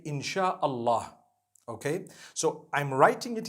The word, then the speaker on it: insha Allah: as when people read it they read it insha Allah because a transliteration means nothing it just it